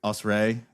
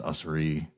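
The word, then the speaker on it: Usrey: Uh because for a while I was like us and you know everyone said no it's usri yeah it just happens and there's that's another tricky one.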